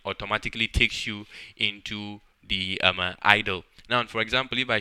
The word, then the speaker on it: IDLE: what is called an ID le most people just pronounce it as idle only it comes once